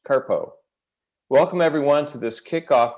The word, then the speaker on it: CRTPO: which goes by the acronym crtp which is pronounced carpo welcome everyone to this kickoff meeting for the